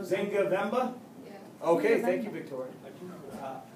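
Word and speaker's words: Nzinga Mbemba: Take away the N and the M. Yeah. Just say Zinga. Zinga Vemba?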